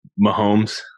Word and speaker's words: Mahomes: Your boy Mahomes, is that how you say his name? Mahomes? Oh, Mahomes.